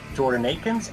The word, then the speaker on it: Jordan Akins: So far, the dollars have been stretched well to acquire talent including Dalvin Tomlinson, Jordan Akins, and Elijah Moore. And yes, this time I'm actually pronouncing Jordan Akins' name correctly.